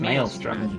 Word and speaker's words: maelstrom: what mortals say, so that if I ever pronounce a word wrong, it is your fault. Who said The word maelstrom? is It's maelstrom, you dipshit.